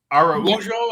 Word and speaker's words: Araujo: Defensive line coach Austin Clark, outside linebackers coach Ryan Crow, Brian Duker, Matthew Arahuo. Sorry if I butchered the name, Matt. Yeah, I think. Araujo, I think. Matthew A. How's that? Right, there you go.